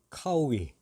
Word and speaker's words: 烤鱼: 바로 배경 영상에 보여지는 요리가 카오위, 우리 발음으로는 고어입니다.